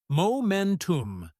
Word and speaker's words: momentum: Pronunciation tip: momentum. Stress on the second syllable.